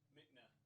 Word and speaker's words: Mickna: Michna? Mickna.